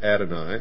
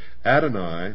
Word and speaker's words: Adonai: Adonai also spelled, well, in the first place here it's spelled A-D-O-N-A-Y, and he says Adonai, also spelled A-D-O-N-A-I, is the Hebrew word for God.